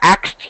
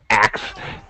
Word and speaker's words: ask: all the time I asked you a question uh it's colloquial it's wrong but it's not wrong it's wrong but it's axe yeah it should be ask correct pronunciation I'm sorry sorry Abdu